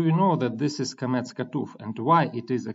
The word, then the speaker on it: qamets chatuf: word we have a comet's hatref which should be read as o so how do you know that this is comets katuf and why it is